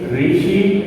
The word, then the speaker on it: ঋষি: যদি লিখি ঋষি ঋষি, রি এর উচ্চারণ র দিয়ে হবে। এটা যেন মনে থাকে।